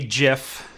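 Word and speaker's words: GIF: will also say that i believe the creator gets to name his own creation and in that in that uh idea or that that ideal uh it should be pronounced jif well a couple of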